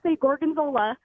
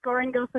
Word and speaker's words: Gorongosa: one thing I'm just glad that you could pronounce Gorongosa because I was at time Corgan Zola it is not just Gorongosa National Park but they have an incredible story